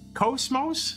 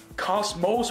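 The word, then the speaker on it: KOS-MOS: Cosmos?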